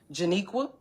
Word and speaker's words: Janiqua: And then they call first of all if they would have came to me and said Janiqua that's how you say my name. Janiqua.